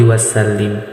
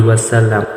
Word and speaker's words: wasallam: Dan jangan salah, kadang-kadang orang salah membacanya. Biasanya seperti ini, Sallallahu alaihi wasallim. Biasanya seperti itu. Jadi yang betul, Sallallahu ala Muhammad, Sallallahu alaihi wasallam.